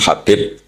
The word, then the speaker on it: Habib: Ada yang nulis Abi Abdurrahman Habib Asulami. Itu di harakatnya kitab itu ada yang nulis Hubab. L yang benar. Oh nggih. Yang benar itu bacanya habib.